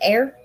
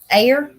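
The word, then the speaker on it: Ayr: her home in a a y r how do you say that air air on the Southwest Coastal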